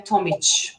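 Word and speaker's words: Tomić: We say Ch. So actually it would be Tomic. So I don't know. Ch. Yeah. Okay.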